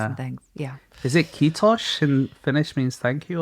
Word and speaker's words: kiitos: I was taught you basically say mosquitoes with a soft ending and then lose the mos, and that's how you say it.